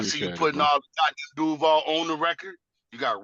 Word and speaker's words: Duval: Duval.